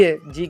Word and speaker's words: hedge: तो ब्रिज, अब यहाँ पे डी है, जी के पहले कौन है?